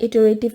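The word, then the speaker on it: iterative: Sometimes इसमें different pronunciation भी आ सकती है, लेकिन सबसे एक्यूरेट है इटरेटिव प्रोसेस।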